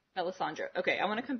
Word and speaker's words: Melisandre: didn't actually say her name her name is melisandra Melisandre okay I want to come back to her